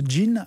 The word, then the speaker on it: Jean: Alors, elle raconte l'histoire de Jean, donc en français ça s'écrit Jean, mais ça se prononce Jean à l'américaine.